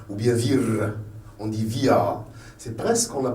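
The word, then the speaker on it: vier: On ne dit pas vir ou bien vir. On dit via. C'est presque qu'on ne la prononce pas.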